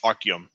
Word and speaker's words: Artyom: If yeah, anyone who's played it, well, actually, it's Artyom. Artyom, that's how they say it.